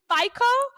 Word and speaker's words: FICO: do you say it I say FICO what do you say that's that's absolutely right absolutely correct who gives